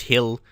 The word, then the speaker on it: Hill: Yeah, how to pronounce your name. It's Hill.